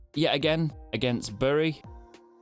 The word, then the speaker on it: Bury: Yet again against Bury. Or Berry. I always used to say that wrong because I said it how it's spelt.